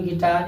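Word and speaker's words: guitar: इसको इसी तरह पढ़ेंगे गिटार, इसको इसी तरह पढ़ेंगे गार्ड। और भी साइलेंट नहीं होता है, भी साइलेंट नहीं होता है।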